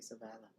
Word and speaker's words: Sovála: Yeah, because the stress would be on the 2nd syllable, so it'd be Sovála.